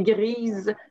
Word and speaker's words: grise: Donc, c'est gris, mais gris, ben, on ne prononce pas le S, mais grise, le S va être prononcé, etc.